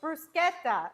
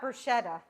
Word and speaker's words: bruschetta: It's brusqueta. Exactly. Not bruschetta. But you know what? Most people say it wrong.